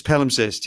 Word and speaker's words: palimpsest: Was it Palimpsest? Yes, Palimpsest. Yes. Yep. Palimpsest. Yep. That's how you say it.